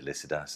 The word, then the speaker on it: Lycidas: Greek name but um when I was taught this poem at University everybody said ladas and they still do in the book trade so I'll just have to stick to that anglicized pronunciation uh it's a long